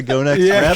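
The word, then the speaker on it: Gonex: Pronouncing it correctly. God, yeah. Go We're not Next. sure. It's Go Next.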